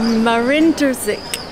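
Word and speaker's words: Marin Držić: Hey, can I pronounce his name? Marin Drzic.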